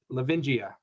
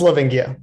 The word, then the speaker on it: Lavingia: Lavingia. Yes. Did I pronounce that right? It's Livingia, but pretty close.